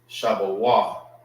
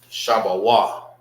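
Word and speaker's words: שבו: Shabawah is how you say a gate in Hebrew. All right, let's write it in the ancient. Shah, Ba, Shabawah. And the connectors, they are all pronounced by itself. Shah, Ba, Wa.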